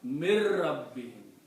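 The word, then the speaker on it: مِن رَبِّهِم: read min rabbihim, but in the tajweed you read mir rabbihim. The sound of ra takes over the sound of noon. So it becomes mir rabbihim with a gunna, obviously. So you don't pronounce the noon here, you pronounce mir.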